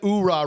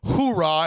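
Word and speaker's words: Oorah: But at least we said URA, right? Because I hate that this movie says hurahh. And they never use the freaking H in the Marines.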